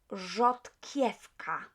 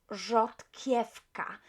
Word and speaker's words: rzodkiewka: Rzodkiewka. Rzodkiewka. Because we have a letter K here and W just in front, but what we would do, we would pronounce V as F. So rzodkiewka, not rzodkiewka, right?